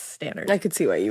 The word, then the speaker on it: Stannard: And I looked up the pronunciation to say it because I thought it was Stannard at first, but it's Stannard.